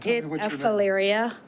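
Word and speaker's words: Phaleria: Ms hello however did I pronounce your first name correctly uh kinda sort of but not really go ahead of valyria Hilaria yes okay thank you let's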